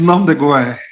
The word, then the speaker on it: nom de guerre: Get me pronounce that part. It's nom de guerre. Okay, nom de guerre.